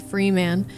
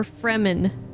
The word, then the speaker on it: Fremen: Is it Freeman or Fremen? How do they say it in like the movies and stuff? The second? Okay, good, because that's how I've